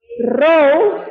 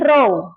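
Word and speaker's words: ρ: Massa jenis lambang besaran dan rumusnya itu adalah row. Ini bukan P ya, ini row. Bacanya row.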